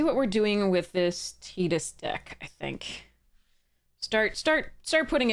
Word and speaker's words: Tidus: I used to say Titus because that's technically what I think an Americanized pronunciation would be, but I do believe the Japanese pronunciation is Tidus, and correct me if I'm wrong.